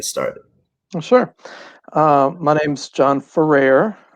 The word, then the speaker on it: Ferrer: My name's John Ferrer. If you ever look at the name and you want to pronounce it Ferrar, don't. Just think rare fur and then switch it.